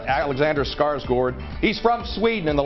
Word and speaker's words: Skarsgård: Can't pronounce his name. It's Skarsgård. Alexander Skarsgård.